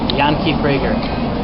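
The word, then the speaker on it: Yanki Frager: ask my friend how Yankee say your name Yan frager spell that y a n k i f r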